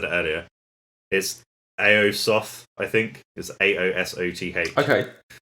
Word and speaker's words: Aosoth: was gonna say about older stuff and i mispronounced the band's name uh when i said it earlier is aosoth i think is a-o-s-o-t-h okay excuse me um